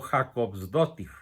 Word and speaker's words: Jakobsdóttir: La siguiente mandataria, de nombre casi impronunciable, primera ministra de Islandia, Katrín Jakobsdóttir, o Jakobsdóttir, por el acento que trae ahí en la O.